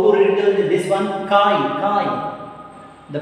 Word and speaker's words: chi: Chi. The pronunciation of susceptibility is chi.